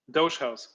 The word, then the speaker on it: Dogehouse: session in on dot charles how does it pronounce dutch house doge house what is what is correct announcement here doge house okay maybe we can get a couple of